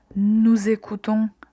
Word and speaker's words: nous écoutons: Au pluriel, vous allez entendre le son Z. Nous écoutons.